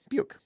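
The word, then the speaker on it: Beuck: Pardon me if I'm pronouncing this wrong. Dawn Buick. I think that's right. B-E-U-C-K. Buick.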